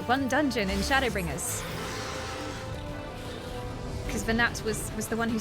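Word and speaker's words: Venat: Also, not Venet. I have been mispronouncing that this whole time.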